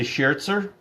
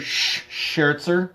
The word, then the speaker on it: Scherzer: Scott say he's always heard Sherzer. So have I. I believe that is the right way to pronounce it, but I'm asking everybody else.